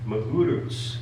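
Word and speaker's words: Magarac: of the origins of Joe Magurutz, is how one of my sources says to pronounce that last name over there.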